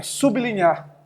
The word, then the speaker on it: sublinhar: Sublinhar se escreve junto, mas se pronuncia separado.